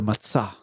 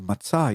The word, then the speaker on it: matzah: Instead of matzah, you say matzah.